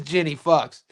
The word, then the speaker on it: Fuchs: Jenny Fuchs. You can't be throwing that name at me spelled like that. It's Jenny Fuchs.